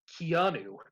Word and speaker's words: Keanu: It's pronounced Keanu.